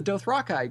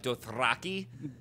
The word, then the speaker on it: Dothraki: pretty much exactly like this, so you're the Dothraki guy.